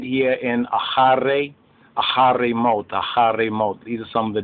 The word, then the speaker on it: mot: Now they have mos here, that's how the Ashkenazis, they pronounce it, because the list, their ethnic list, they pronounce the TH of a S sound. More correct is mot, M-O-T, which means death.